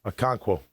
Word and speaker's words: Okonkwo: Yeah, Okonkwo.